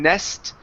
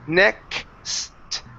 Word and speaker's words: next: a case out here instead of saying nest it's next next mom good one more